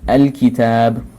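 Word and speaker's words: الكتاب: You know, al-kitab, this is qamariya, because al-qamar, if this pronounced, the lam is pronounced in here.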